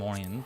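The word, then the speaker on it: Oriens: Right, we want to fly to Castrum Orient. Right, because it's like a French sort of name, I think that S is silent.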